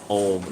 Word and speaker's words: Ogham: And Ogham, O-G-H-A-M, is pronounced Om, like Om resistors, Om like It's pronunciation of Cthulhu.